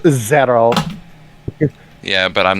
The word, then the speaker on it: Xero: name is zero x-e-r-o wouldn't that be skiro no it's pronounced zero yeah but i'm not